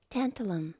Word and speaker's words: tantalum: Let me make sure I'm saying these right. Tantalum. Tantalum. I said that correctly. Okay. It is... excellent. So here we go. So tantalum is used in capacitors.